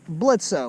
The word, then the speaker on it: Bledsoe: obviously are devils and of course bledsoe where the o is silent this is absolute gold